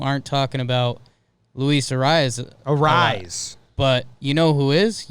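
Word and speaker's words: Arráez: He just made me realize we've been pronouncing it wrong. It's Rise, not Reyes.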